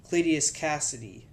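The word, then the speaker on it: Cletus Kasady: at the time uh clitius Cassidy yeah that's how you say his name it bonded to Cassidy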